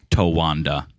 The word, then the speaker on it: Towanda: tawand is pronounced correctly it has to be phonetically it is what it is right Towanda yeah that's the good thing about the Joanne